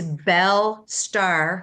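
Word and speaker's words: Belle Starr: I'm going to correct you, Mark, because your pronunciation on names sometimes isn't the best, but it's Belle Star, who was a very famous um, star in the 40s.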